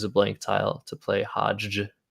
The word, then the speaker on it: hajj: blank tile to play hajj i can just pronounce it hajj but i really need to put emphasis on there being two j's in a row which is just hilarious